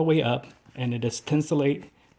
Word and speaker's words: Thinsulate: As you can, the tongue goes all the way up, and it is thinsulate. Thinsulate?